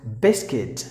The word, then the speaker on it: biscuit: The next word is Here, the letter U is silent. So you have to pronounce the word as biscuit.